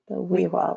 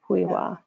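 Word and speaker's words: Xwi7xwa: And that's pronounced the WIWA Library. WIWA.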